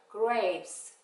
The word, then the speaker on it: grapes: 그레이프스까지 발음해요. grapes.